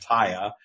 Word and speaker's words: TYA: call the taya practice tya stands for trust or abundance and we pronounce it taya and it's it's it's